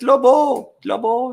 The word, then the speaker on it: Lobo: The Lobo says, Lobo is how you say it.